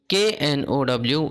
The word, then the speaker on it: know: Okay, see, you K N O W know, you know, here K is silent.